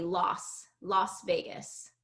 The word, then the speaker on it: Las Vegas: So it should be Oh, pronounced based oh, on the spelling last, like I, you said, but it tends to be Las Vegas, Las Vegas.